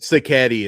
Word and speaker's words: Sacchetti: Sacchetti is the way.